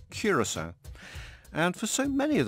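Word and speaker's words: Curaçao: Kiracao. It shows how little we knew about this that we didn't know. It's pronounced Curacao, and for so many of the websites I've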